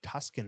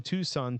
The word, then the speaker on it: Tucson: will be located in Tucson Arizona the opening you know when I naturally pronounced it properly but whenever I read it earlier I'm like Tuscan Arizona where the